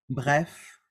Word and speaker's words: bref: Except with the letters, with the consonants, C, R, F, and L. Okay? With these consonants, we do pronounce them. For example, bec, bar, bref, et bol.